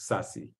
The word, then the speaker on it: SASE: it in the edge it's called SASE secure access Services Edge pronounced sassy there I got to